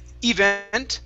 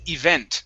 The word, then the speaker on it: event: This word here, instead of event, it's event. The stress is at the end of the word, event.